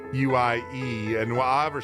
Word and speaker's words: Viguié: We are talking with New York Bestselling Times author Debbie Viguié. I'll spell it out. It's Viguié. Viguie.